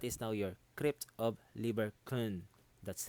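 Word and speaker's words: Lieberkühn: arrow so that is now your crypt of liber khan that's how you're supposed to pronounce it liver con okay i just checked google so liber okay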